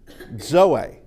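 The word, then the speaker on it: ζωή: Uh this is zeta and it behaves like our Z but it is a dz sound as in adds uh and uh a common word is zoey.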